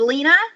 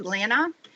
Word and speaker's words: Leena: And she said, "Leena." And I just kind of said, But that is actually not my name. My name is Leena.